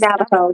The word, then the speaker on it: Navajo: Navajo, the Navajo, it was the reservation.